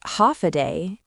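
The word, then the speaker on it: Håfa Adai: Ha, pronounced ha a day. It means hello in chammorro.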